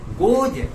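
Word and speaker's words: goes: उच्चारण के लिए कि कोई भी अंग्रेजी शब्द के अंत में अगर ई रहता है और ई के बाद प्लुरल मार्कर यानी बहुवचन बनाने वाला निशान एस या ईएस रहता है, तो एस और ईएस का उच्चारण हिंदी में दंत स में हलंत न होके ज में हलंत होता है फोनेटिक रूल पर। इसलिए मैं कम्स को कम्स नहीं पढ़ता हूँ, कम्स गलत उच्चारण है, कम्ज, गोज, कम्ज।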